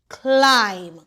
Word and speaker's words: climb: MB says The B is silent. I'm, climb.